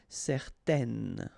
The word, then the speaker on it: certaine: Okay, so it's nasal in your nose, un. Okay, if you add this at the end, then it will change the thing, and then you will pronounce it n. Okay, so the masculine form, certain, the feminine form, certaine. All right, so let's see them one more time.